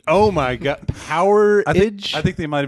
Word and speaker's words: Powerage: That's AC/DC's Gone Shooting from, I believe it's called Powerage. Powerage. It's spelled like Power Age, one word. That's got to be Powerage, right? Kind of like amperage.